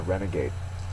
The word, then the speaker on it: renegade: would be considered a renegade Renegade is a noun it's also an adjective the first syllable is the accented one the noun form of